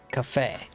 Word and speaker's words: café: So the word for coffee in Portuguese is café. It's pronounced ca and fe.